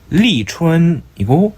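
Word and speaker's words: 立春: 중국어로는 리춘이고 일본어는 리슝이라고 읽습니다.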